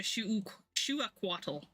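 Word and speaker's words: Xiuhcoatl: Some may also pronounce it as shuquaddle, but the more accurate pronunciation is closer to shuaquaddle.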